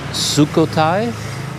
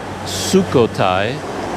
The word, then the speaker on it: Sukhothai: and go to the nearby historical site of sukhothai i should have checked how to pronounce that before i started this video but there's a historical site near here i believe it's called sukhothai and i haven't done all of my reading